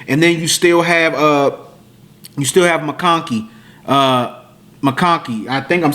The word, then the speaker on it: McConkey: Yeah, McConkey.